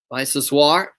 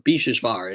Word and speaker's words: Biseswar: A foul called against Biseswar. Or Bisheshvar is the correct pronunciation of his name.